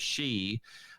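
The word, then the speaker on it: 四: fours which in japanese the word for four is she uh pronounced the same way as their word for death so that's the reason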